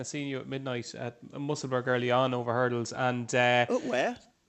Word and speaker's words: Musselburgh: Pronounce Musselburgh there? No, Musselburgh. Musselburgh. Yeah, like kind of Middlesbrough.